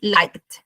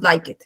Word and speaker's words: liked: Y uno nuevamente pronunciamos liked, ¿listo? Se fusiona otra vez la acá con la de liked, ¿listo? No decimos like it, sino liked.